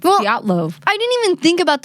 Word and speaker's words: Dyatlov: This is the story of the Dyatlov Pass. It's pronounced differently than Diablo. It's not. Why did I think it was Diablo Pass?